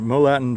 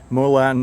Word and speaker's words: Morlatton: he welcome to Molen moltin Village cuz I guess the r is silent in 1701 William Penn